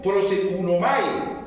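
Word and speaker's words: προσεύχομαι: escribe el Nuevo Testamento, es un verbo que se pronuncia prosekunomai y dice orar, rogar, suplicar, pedir y adorar.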